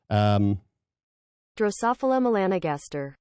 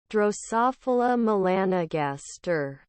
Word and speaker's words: Drosophila melanogaster: Let's just get the correct pronunciation there. Drosophila melanogaster. All right, let's say it one more time, slower. Drosophila melanogaster. Drosophila melanogaster, and that's just fancy speak for fruit flies.